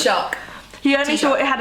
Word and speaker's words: Taoiseach: president, or only thought had how do you pronounce it? Taoiseach.